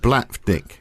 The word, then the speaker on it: Blavatnik: So, like when we look at the richest man in Britain now is Sir Leonard Blavatnik, who, you probably never even heard of, but he's worth...